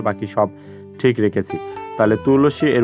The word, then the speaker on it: তুলসী: আমরা জানি যে সূত্রে দন্তস সমান হচ্ছে ছ এর মত উচ্চারণ করতে হবে তাহলে দন্তস এর পরিবর্তে আমি দেখো এখানে ছ লিখে দিয়েছি আর বাকি সব ঠিক রেখেছি তাহলে তুলসী এর উচ্চারণটা আমরা পেয়ে